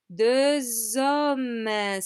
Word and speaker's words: deux hommes: So this X, we do pronounce it. However, it's not the X homme, it's the Z sound, okay? The Z sound of like a buzzing bee in your ear, yeah? Deux hommes, deux hommes.